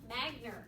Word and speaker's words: Magner: This is Michele, is it Magner? Magner. Okay. Hard G.